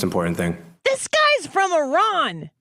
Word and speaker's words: Iran: by a reporter for Iran from Iran's state media. Listen to this. You say you support the Iranian people, but you're pronouncing our country's name wrong Our country is named Iran, not Iran.